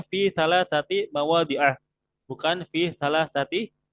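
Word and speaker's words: مواضع: Nah, kenapa di sini saya bacanya fi salah sati mawadi'ah, bukan fi salah sati mawadi'i.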